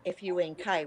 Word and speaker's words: Funk: Their surname spelt Funk, F-U-N-K, which is what we call them in Australia, but of course it's Fun, I think, in local pronunciation, but over here we call them Funk.